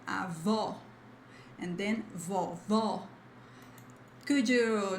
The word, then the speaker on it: avó: Then when you see this accent mark, like this risk on top of the word, you have a strong sound, like it's the stressed part, the stressed syllable, like avó, and then vovó.